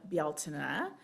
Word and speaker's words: Bealtaine: It is our way of celebrating the pagan holiday of Bealtaine. That's the Celtic pronunciation. It's spelled Beltane, but that's not how it's pronounced.